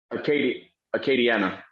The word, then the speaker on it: Acadiana: How do you pronounce it? Acadiana? Acadiana.